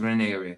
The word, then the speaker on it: Raniere: It's pronounced Raniere.